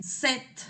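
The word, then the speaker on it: sept: Set. No pronuncié la p.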